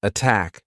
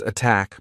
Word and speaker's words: attack: Marina, can you try to pronounce some words with the true T? Tell, taxes, attack, protect. Great. Tell, taxes, attack, protect.